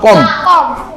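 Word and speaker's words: comb: হবে সি ওম শুধুমাত্র কম কম কি উচ্চারণ কম বি নাই এখানে বি কে সাইলেন্ট কর তাহলে উচ্চারণ কি হবে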